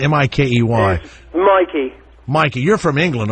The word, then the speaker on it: Mikey: Is it Mikey or Mickey? How do you say M-I-K-E-Y?